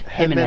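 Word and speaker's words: Jiménez: No, Jimenez, but it's pronounced Jimenez.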